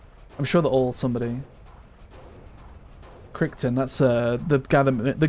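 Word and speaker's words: Crichton: I believe it's pronounced Kryton.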